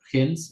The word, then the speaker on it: gens: gen, Yo creo que la estamos pronunciando mal. gens. Yo la verdad no es mi fuerte el latín, ¿verdad? Vamos a escuchar gens latín. Ahora con esto de escuchemos. Sí, la estamos diciendo bien.